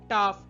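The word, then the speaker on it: tough: শব্দের শেষে যদি জিএইচ থাকে এবং এইউজিএইচ ও ইউজিএইচ প্যাটার্ন ফলো করে, তাহলে জিএইচ এর উচ্চারণ ফ হয়, যেমন লাফ, কফ, রাফ, টাফ ইত্যাদি।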